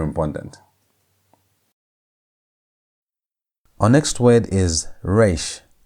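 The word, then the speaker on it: ריש: Our next word is re r. Re has the ar sound. It's a as in the word red.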